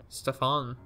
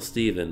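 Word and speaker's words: Stephen: Stefan. No, it's still Steven, but it's just spelled weird.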